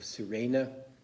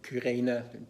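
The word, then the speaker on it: Cyrene: crowd whose name is simon of sirena or kirena different ways of pronouncing who carries that then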